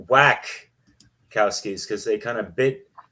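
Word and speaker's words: Wachowski: it was directed by The Wack cowys pronounced it whack cowys because they kind of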